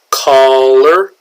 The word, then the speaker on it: collar: Collar.